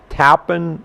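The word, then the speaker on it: Tappan: it now we're in a little town called tapen New York and that's how they pronounce it that way now inside the the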